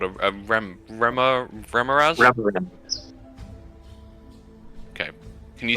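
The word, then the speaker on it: remorhaz: this what was it called a rem REM remz okay can you spell that again for me r e m o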